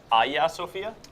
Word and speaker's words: Hagia Sophia: Yeah, Hagia Sophia? Hagia Sophia. Okay. Learning about pronunciation.